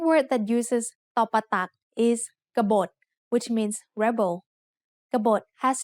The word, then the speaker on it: กบฏ: Both syllables have middle class initial consonants and both syllables have dead endings, so they are both low tone.